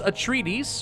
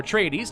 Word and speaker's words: Atreides: and powers available to them we have house atreides or tradies depending on how you prefer to pronounce it the house harkenin the smugglers and